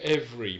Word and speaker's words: every: Les composés de every maintenant. Donc on ne prononce pas le deuxième E. Every. Les composés de every.